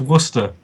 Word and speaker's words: Worcester: And it's pronounced Worcester.